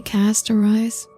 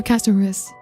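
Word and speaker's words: Castorice: In the game, they say Castorize. No, they say pronounce it Castorus. Yeah, Castorus. Yeah, I guess it's the correct pronunciation.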